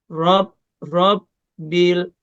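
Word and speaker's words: رب: Lillahi rob bil. Roknya fathah, jadi rok tebal atau tafkhim. Rob bil, lam sukun, juga jangan sampai mantul. Rob bil, jadi enggak rob bil.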